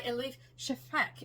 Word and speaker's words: Elif Shafak: All right, the next one that I'm going to talk about is The Rivers in the Sky by Elif Shafak, is I think how you pronounce her name.